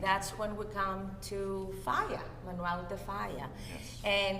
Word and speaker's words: Falla: But the Falla, actually, or Falla rather is the correct way of pronouncing his name, once Franco came to throne or to politics, when he decided came to power.